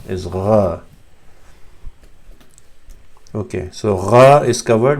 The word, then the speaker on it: qaf: They say qaf as ga, but that's a dialect, and you don't need to fall for the dialect. The actual pronunciation is gha.